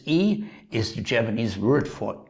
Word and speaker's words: e: coochi and a or in english better pronounce this e is the Japanese word